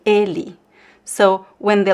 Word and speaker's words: ele: So some people would say ele, but I say ele.